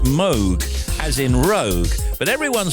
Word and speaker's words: Moog: The surname of the late Robert Moog, Bob Moog, inventor of the legendary Moog synthesizer, is actually pronounced Moog, as in Rogue. But everyone said Moog for so long, no one bothers to correct it anymore.